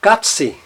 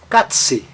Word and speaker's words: Katze: Então, perceba o seguinte, na palavra Katze, Katze, veja que o A está na sílaba tônica e ele tem um som breve, Katze, Katze.